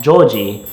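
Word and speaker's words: ジョージ: is George Washington and in the Japanese Katakana version of that first name George it's pronounced Joi so let's go with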